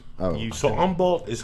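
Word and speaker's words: Humble: don't pronounce them so oh the silent h oh so Umble is how far from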